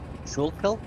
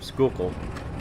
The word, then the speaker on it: Schuylkill: Schuylkill? Nope, Schuylkill.